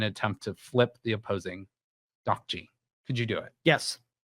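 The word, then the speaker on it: 딱지: Ddakji is how you pronounce it.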